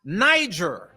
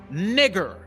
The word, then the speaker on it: Niger: So when you're reading in Acts, the 13th chapter and the first verse, it's not pronounced Niger, it's pronounced nigger.